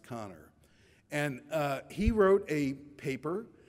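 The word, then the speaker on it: Kanner: Johns Hopkins Hospital namely O'Connor it looks like caner but it's pronounced connor and he wrote a paper describing eleven children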